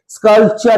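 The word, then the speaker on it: sculpture: জৈন সবাই একসাথে মিলেমিশে এই গুহাচিত্রগুলোতে কি করেছে স্কালপচার এখেছে ইলরাতে স্কালপচারপচার মানে উচ্চারণটা দেখব এস সি ইউ P Salap টি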